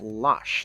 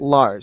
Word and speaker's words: Losh: It's pronounced Losh, not Lars. Sorry. It's Um, pronounced Losh.